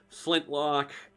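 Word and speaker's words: Flyntloch: Anthelit 1220, Toby Wildfang, Gwen Vest, Flintlock, Flintlock, huh? Flint-Lock, but Flint is spelled FLYNT-LOCH.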